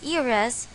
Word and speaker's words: heiress: there are instances when H is a silent letter examples you still have an hour left and she is an heiress notice that in this sentences although H is a consonant we didn't use the article ah this is because H in the words our and ira's is a silent letter